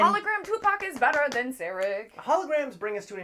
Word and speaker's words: Sarek: Sarek? Is this how we say his name? S-E-R-E-K. Yeah, Sarek.